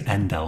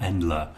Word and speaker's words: endl: this course course that I probably should say end l not endler and notice how I